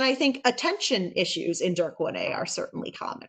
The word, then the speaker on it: DYRK1A: Yeah, we all say DYRK1A in our lab.